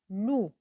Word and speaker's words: loup: Elle avec OU se prononce loup. Elle avec OU se prononce loup. Un loup. Le P ne se prononce pas.